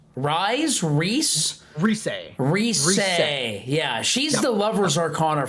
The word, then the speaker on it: Rise: Okay, next character, we got another Persona 4 character, and I don't know how to pronounce this. I think it's Reese. Rise? Rise.